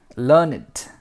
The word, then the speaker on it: learned: We pronounce it as learn, ed, learn it, to rhyme with created, waited.